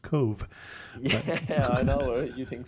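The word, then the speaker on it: Cobh: spell it apparently since when you see something that's spelled Co BH you don't think that it would be pronounced Cove I know you think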